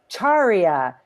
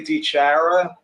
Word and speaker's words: DiChiara: You know, it's funny because my daughter came home one day and said, we've been mispronouncing our name all this time. So I say DiChiara, and she said it's DiChiara.